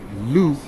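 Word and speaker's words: Lugh: but the pagan holiday loop pronounced like hue l-u-g-h nasa i'll show you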